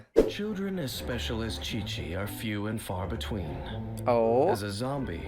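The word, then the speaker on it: Qiqi: Let's see what uh I said Quiqu. I think you pronounce it Chi-Chi.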